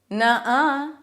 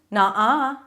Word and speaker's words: nuh-uh: All right, the next one is nuh-uh, nuh-uh, to disagree with someone. Oh, you love him. Nuh-uh. Nuh-uh. Or you can also go further back in your pronunciation, more of an ah sound, nuh-uh.